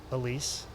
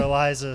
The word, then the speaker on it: Elise: Well, Elise, did I say it right? Yeah. Okay, so we were having a discussion. It was Elise or Eliza.